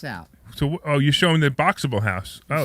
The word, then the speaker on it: Boxabl: It's Boxable, and it's spelled BOXABL. So Boxable.